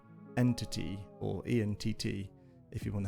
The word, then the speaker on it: EnTT: our ECS against a very popular ECS called Entity, or ENTT if you want to spell it.